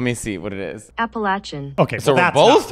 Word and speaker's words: Appalachian: first of all where I come from we pronounce it appalachin you're joking right that's how you pronounce it it's the Appalachian Mountains that sounds fancy I assure you if